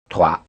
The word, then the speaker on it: trois: You will hear this effect also with the words for 6 and 10, and also 3, because it is spelled with an S at the end. Trois.